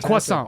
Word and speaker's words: croissant: Coffee and He was croissant.